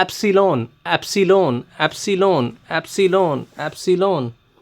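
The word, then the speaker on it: epsilon: नहीं होता ये बेटा एप्सन होता है फिर से सुन लो ये एसाइलम नहीं होता नहीं होता नहीं होता बहुत से टीचर इसको एसाइलम बोलते हैं एसाइलम नहीं होता ये होता है एप्सन एप्सन एप्सन एप्सन एसिन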